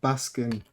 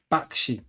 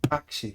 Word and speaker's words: Bakshi: I first saw the Ralph Baskin um Lord of the Rings. Is that how you say his name? Baskin. Bakshi. Bakshi.